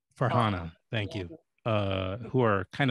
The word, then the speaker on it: Farhana: successes of your documentary, whether it's Roger or Farana, and please correct me if I mispronounce somebody's name. Yeah, Farhana. Farhana, thank you.